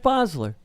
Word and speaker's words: Basler: Bosler. It's not how Tom says it, but that is how it's pronounced.